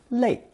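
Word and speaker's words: 泪: In this example, I've introduced a new character meaning tears pronounced fourth tone le that fits in well with the idea of cho meaning to beg or plead.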